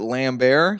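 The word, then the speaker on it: Lambert: Benjamin Bratt I believe I believe you pronounce it lamb Bear Lamphere wilson frances conroy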